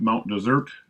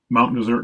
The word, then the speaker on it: Mount Desert: And it is pronounced Mount Desert, not Mount Desert, as the spelling would suggest.